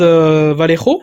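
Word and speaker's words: Vallejo: Donc là tu as un gros stand Valero ou Val comme ça qu'on prononce.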